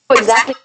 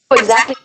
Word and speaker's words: exactly: those smoothly no exactly now wait is she saying the T in exactly exactly exactly exactly exactly no she doesn't like I said that's